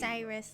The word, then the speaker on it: Cyrus: Cyrus like virus.